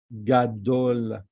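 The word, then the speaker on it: גדול: This is we didn't learn yet, but we pronounce it Gadol. Let me write it for you. Gimel with a kametz. Ga. Then Dalet. Gadol. Vav.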